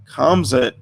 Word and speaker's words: Khamzat: So Khamzat Khamzat Chimaev. Ooh, yes, I'm finally getting that pronunciation right.